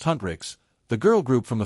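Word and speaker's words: Huntr/x: Hunter/x, pronounced Hunrix, the girl group from the film isn't real, but you wouldn't know it.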